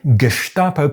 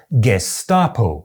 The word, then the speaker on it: Gestapo: One person would say the “Geshtapo” pronunciation is universal in southern Germany, and the next person would say, “I’m from Munich, I’ve never heard anyone pronounce it that way.”